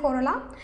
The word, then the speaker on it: corolla: Corolla, you can easily remember the difference between calyx and corolla. If you pronounce corolla, it's pronouncing somewhat similar to the color.